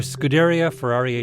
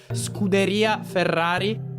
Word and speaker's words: Scuderia Ferrari: of fan development for Scuderia Ferrari HP. Your pronunciation is it's strongly American. It's more Scuderia Ferrari. I'm still working on rolling my Rs.